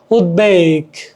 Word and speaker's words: উদ্বেগ: যাই হোক, তারপরে কি উৎ, উপসর্গ যোগে গঠিত শব্দ, এর সাথে ব ফলা, ব বাংলা উচ্চারণ লুপ্ত হয় না। উদ্বেগ, উদ্বেগ, উদ্বোধন, উদ্বোধন প্রভৃতি।